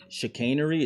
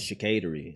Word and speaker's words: chicanery: I was actually trying to say, there's a word called, it's chicanery. It's spelled CH. That's an actual word. But my illiterate dumbass thought it was chicatery.